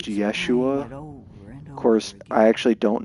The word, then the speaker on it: Yeshua: in the same way Jesus's name was most likely pronounced Yeshua of course I actually